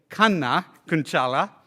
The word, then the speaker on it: Kanna Kunchala: So with that, I'd love to invite the co-chair of the Quinn Impact Fund, and I'm going to pronounce it the Asian way, Kanna Kunchala, please.